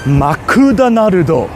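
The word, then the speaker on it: マクドナルド: Makudanarudo.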